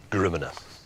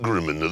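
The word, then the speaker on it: GRMN: Gruminer. It isn't Griminer.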